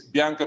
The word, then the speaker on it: Bianca: thank you so much they always say when you pronounce your name it's a soft a four syllables that's the way they describe it but i think all they have to say it's bianca and i think you